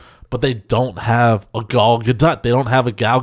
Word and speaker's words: Gal Gadot: And I've been watching, what that led to was me watching a lot of who I thought you pronounce her name Gal Gadot, but she says it's Gal Gadot.